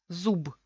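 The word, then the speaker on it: зуб: Al final se queda, en vez de b, se queda p.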